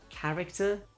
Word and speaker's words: character: So if it sounds like a Greek word, ch sounds like K, for example, chaos, character chemistry.